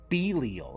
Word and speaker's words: Belial: help be leo what what the hell is belial who pronounces it belial it's belial is it not mounting crystals